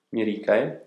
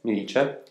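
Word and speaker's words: Myricae: La prima raccolta veramente importante di Pascoli si intitola Mirice, che si scrive con la Y, M-Y-Ricae, Mirice, Mirice, una parola latina, del 1891.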